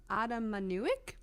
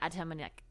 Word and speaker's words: Atamanuik: I'm gonna butcher this, just like I butchered that entire sentence. Anthony Adamanuik? Oh. Atamanuik? Anthony. Oh yeah, okay. Anthony Atamanuik.